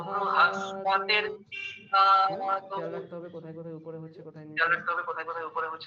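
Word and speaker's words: बृहस्पतिः: বয় রিতে ব্রি উচ্চারণ হয়, কিন্তু যখন আপনারা এইভাবে উচ্চারণ করবেন, এই কৃষ্ণ যজুর্বেদের মতন উচ্চারণ করবেন, সেখানে রিকারকে রু উচ্চারণ করতে হবে। ব্রু।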